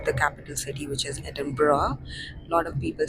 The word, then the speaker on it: Edinburgh: We'll enjoy Scotland, or the capital city, which is Edinburgh. A lot of people say Edinburgh, but it is Edinburgh. It's a cool word, like GH, they don't pronounce it.